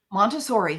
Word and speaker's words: Montessori: tell us about the montauri method am I pronouncing that right montauri montauri yes okay what can you